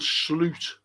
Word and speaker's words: Slot: ] Billy Hogan and Sloot that's how you pronounce his name by the way sloot Sloot the moot.